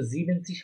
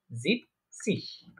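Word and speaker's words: siebzig: বলতে পারি জিবেন, জিবেনসিশ, কিন্তু জিবেনসিশ হবে না। আমরা আগে বলেছিলাম এরা বলার মাধুর্যতা, বলার সুবিধার্থে এই লাস্টে এই এনটা বলে না ওরা, ঠিক আছে, ওরা এটা বিলুপ্ত করে রাখে। আমরা বলতে পারি জিপ সিশ, জিপ সিশ মানে হচ্ছে 70 বা 70।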